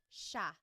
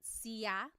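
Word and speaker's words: siya: It looks like it should be pronounced sa, but it's actually pronounced sha sha. There are some regions in the Philippines that might pronounce it sia, but for the most part in the central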